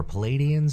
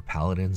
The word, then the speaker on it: Paladins: Here's a kind of a unique look for Palladians, or Paladins if you want to say it correctly.